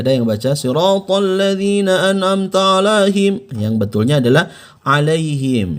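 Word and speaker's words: أنعمت: alpon Levina an'amta alaihim Bukan dibaca an'amta melainkan an amta alaihim baik kita langsung masuk ke pembahasan alaihim ya Jangan dibaca jangan dibaca eh alaihim masih ada yang baca sirotol ladzina an'amta alaihim yang Betulnya adalah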